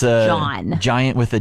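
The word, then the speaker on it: jawn: a new word for you though Sean John John j-a-w-n Sean yeah what uh any guesses as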